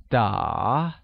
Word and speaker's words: 打: To play or playing is translated as 打, which is pronounced using a falling rising tone, making it 打.